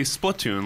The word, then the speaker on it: Splatoon: out loud in general I suppose I say Splatoon like platoon right yeah exactly I've got